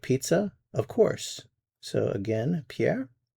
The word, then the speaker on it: pizza: Notice the pronunciation of pizza in French, pizza, pizza.